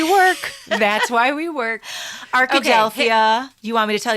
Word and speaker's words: Arkadelphia: this name and I'm very proud of myself Arkadelphia oh that's the one cuz I was going